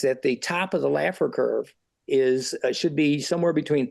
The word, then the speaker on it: Laffer: Now, what's interesting is there's this economic principle, what's been called the Laffer curve, and I have to spell it so it's not laughter. It's Laffer.